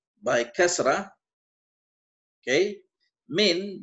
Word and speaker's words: من: I think now min by kasra, okay, min by kasra is preposition. Okay, man as fatha is a quas.